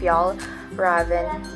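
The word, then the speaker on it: Fjällräven: But like I said, the pronunciation is Fjallraven Kanken. Because they said that this A with the circle on top of it is pronounced as an O. So Kanken. And the A that has two dots on the top is like Fjall.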